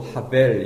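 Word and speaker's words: הבל: 헤벨림. 계속 반복이에요. 혹은 이 똑같은 단어인데 발음을 또 하벨 이렇게 읽을 수도 있어요.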